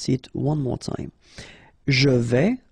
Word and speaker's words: je vais: Je vais. Final S not pronounced here, and remember when you combine this A and E together, you get the sound E, so really open.